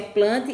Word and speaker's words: Plantae: Depois o reino Plantae, se pronuncia Plante, embora se escreva Plantae, já está dizendo também, onde se encontram todos os tipos de plantas.